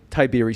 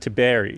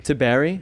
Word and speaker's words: Tiberi: land down under tybeery spawn how are you doing today i'm doing good uh in fact you pronounced my last name incorrectly ben well it's pronounced to berry to berry yeah where does that